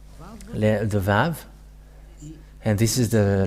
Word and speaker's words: Vav: So here is the letter Vav. The Vav. And this is the letter Vav. This is the Vav. The way to read this is V as in Vag.